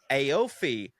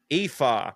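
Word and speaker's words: Aoife: Aofi, pronounced Efa.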